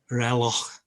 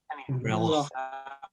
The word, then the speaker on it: reloj: Whenever I say clock in Spanish, Lucia always makes me say it 3 more times. Apparently it's reloj, reloj, reloj, reloj, reloj.